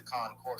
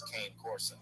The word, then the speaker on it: Cane Corso: So, like, far as when you pay your rent, my family or my house, introducing the concourse. I pay rent with my card. Okay. Pronounce it as cane corso.